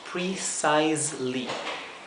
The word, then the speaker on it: precisely: palabra solamente que enseguida después de la s la e es muda aquí entonces el sonido que le sigue es la l precisely bien aquí Tenemos aquí